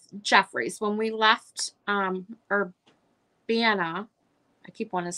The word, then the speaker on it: Urbana: downtown um or Vienna I have to keep thinking about how to say it it's Urbana Urbana Ohio there's a little